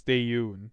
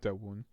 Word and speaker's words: Daeyoon: Oh wait, I've been saying his name wrong. It's Daeyoon, not Dawoon. Although I think maybe a character calls him that.